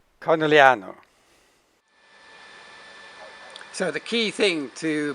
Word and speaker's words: Conegliano: And the other unpronounceable is Conegliano. Conegliano.